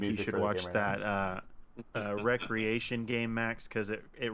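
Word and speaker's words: Wreckreation: name of the game recreation but it's spelled wreck like w-r-e-c alright yeah it look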